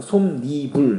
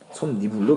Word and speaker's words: 솜이불: 솜이불인데요. 솜니불 해서 니은이 들어왔죠. 맨입이라고 해야 되는 니은이 또 들어왔죠. 이런 식으로 솜니불은 솜과 이불이 결합한 합성으로 원래는 없던 니은 소리가 첨가됐어요. 솜니불로 발음합니다.